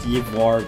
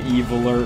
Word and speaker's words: Ivoire: It's pronounced Ivoire, but they can't pronounce it, so they're calling him Eviler or Evilist.